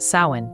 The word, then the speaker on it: Samhain: It's the liminal, in-between energy of Samhain. If you felt that, too, share it with me in the comments. I'd love to know how this season touches you. Let's begin at the root. Samhain, pronounced Samhain, was one of the most sacred festivals in